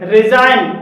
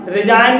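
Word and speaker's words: resign: भी जी साइलेंट है रिजाइन रिजाइन में जी के बाद एन है और यहां पर भी जी साइलेंट है फॉरेन फॉरेन में जी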